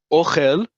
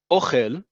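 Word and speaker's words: אוכל: Ochel, ochel, listen to how I say it, ochel, emphasis on the first syllable is food, as in food that you eat. Ochel, ochel, accent on the last syllable is I, you, he eats. Present tense is the verb.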